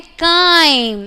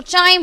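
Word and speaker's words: chyme: हम क्या बोलते हैं, काइम, और कुछ कुछ उसको चाइम बोलते हैं। हाँ, इट्स मर्जी है भाई, जैसे मर्जी प्रोनाउंस कर लो, ठीक है, दैट इज काइम।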